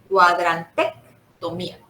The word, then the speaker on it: cuadrantectomía: Si ves que dices cuadrante, ahora le pones una C de casa, tomía. Cuadrantectomía.